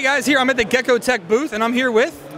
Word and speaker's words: GeckoTek: All right, hey guys, here I'm at the GeckoTek booth, and I'm here with Brad Ruff. Brad Ruff. All right, so tell me, so GeckoTek is, I'm saying it right, Greg, GeckoTek?